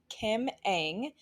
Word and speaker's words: Kim Ng: had never heard about her name is kim eng and her last name is spelled ng so if you're going to google her it's kim ng um she is the